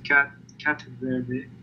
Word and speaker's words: Ktut: At the beginning it was Ktut, as in Spanish, People would say it, but you can say Ktut.